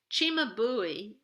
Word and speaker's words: Cimabue: Okay, but now in 1280 AD in Italy, Cimabue, that's how you pronounce this artist's name, is making an altarpiece.